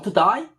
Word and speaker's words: today: Did you come today? Sir, did you come today? 그럼 되잖아요. 근데 걔네들 발음은 호주 발음으로 어떻게 했다? Did you come to die? 걔네는 A가 아 발음이야. 그러니까 today가 to die야.